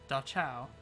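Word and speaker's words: Da-chao: It's pronounced... Yeah, Dachau.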